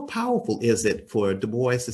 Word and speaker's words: Du Bois: Du Bois. And some folks say DuBois, but it's not. Actually, there's a seminal document that I found where W.B. Du Bois actually said, and he gave the phonetic pronunciation of his name.